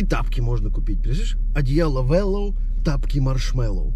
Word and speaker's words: Wellow: поэтому ссылочка на сайт wellow будет в описании ударение на О говорите без ошибок не